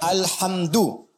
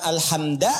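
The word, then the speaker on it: الحمدُ: Dibacaannya alhamdu, bukan alhamda pakai fathah atau alhamdi pakai kasrah.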